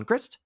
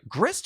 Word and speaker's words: Grist: a loyalty counter on grist and repeat the process sorry grist or gree gree grey uh gris you do pronounce the t okay minus two yeah